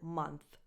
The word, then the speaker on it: month: of the word “month”: So, the vowel sound is the same vowel sound that you have in words like “fun”, “come”, “sun”: And the TH at the end is a voiceless Th like the one that you have in the word “think”.